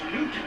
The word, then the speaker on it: Knute: Did you have a different pronunciation than I always just thought it was Newt. If you watch Knute Rockne All-American, they go with Knute.